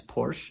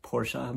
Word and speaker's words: Porsche: below on your dad's Porsche, it'll scratch off the red paint and show the silver underneath. Also, I know it's technically pronounced Porsche, but I refuse to say it like that.